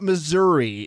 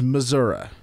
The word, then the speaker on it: Missouri: It's not Missouri, it's Missouri.